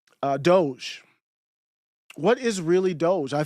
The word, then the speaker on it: Doge: For a while, I thought it was doggy. I didn't know how to pronounce it. I saw Doge and I was like, doggy, Doge? I don't know what it is.